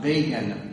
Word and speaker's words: Begin: introduced him by saying, Menachem Begin rhymes with Fagin.